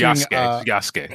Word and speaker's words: Yasuke: Yeah, they're Or featuring Yasuke. That's the proper pronunciation, right.